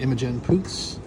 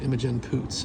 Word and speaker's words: Imogen Poots: They both star Jesse Eisenberg and Imogen Poots, and they're both quirky as hell.